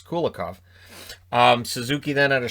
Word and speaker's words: Kulikov: then denied kulikov uh kulakov i almost said kulikov which is how jack edwards was pronouncing it earlier in the year when they were against new jersey i was thinking who's cool yikov so it's kulakov um suzuki then at